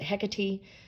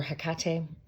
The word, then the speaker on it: Hecate: But yeah, I always love me some, I don't know, some people pronounce it Hecate or Hecate. I go back and forth between the two.